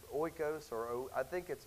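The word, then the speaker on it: οἶκος: Oikos, is it oikos or oiko? Oikos? Okay, there you go.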